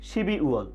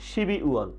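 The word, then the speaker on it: 십이월: আমরা স্ক্রিনে দেখতে পাচ্ছি শিব ই ওয়াল, তাহলে উচ্চারণটি হবে কি শিবি ওয়াল, শিবি ওয়াল, শিবি ওয়াল।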